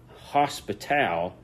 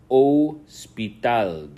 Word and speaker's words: hospital: Remember on this is not hospital, it's hospital. The H is silent.